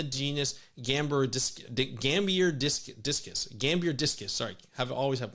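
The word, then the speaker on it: Gambierdiscus: dagates in the genus gamber gambir disc discus Gambier discus sorry have always have pronounced having trouble pronouncing uh Latin names and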